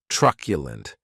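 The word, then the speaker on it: truculent: Keep in mind that tu is pronounced like you're saying the letter q. T r q lund. That last syllable has the schwah. Trculent.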